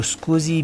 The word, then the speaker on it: SCSI: Small computer system interface, जो SCSI, जिसको स्कूजी भी कहते हैं, शॉर्ट फॉर्म इसका है, प्रोनाउंसिएशन में स्कूजी भी कहते हैं।